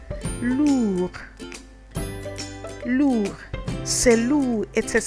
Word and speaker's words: lourd: Why don't you try and pronounce it? We have another example like lourd.